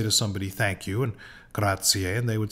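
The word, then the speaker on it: grazie: someone gratier and uh many people uh who don't know much about Italian will pronounce this gratzi uh but it in fact has an extra syllable graier graier the letter Z is usually pronounced like TS graier graier so the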